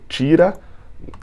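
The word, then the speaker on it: Schira: segundo o jornalista nicolor tira se escreve xira né um jornalista é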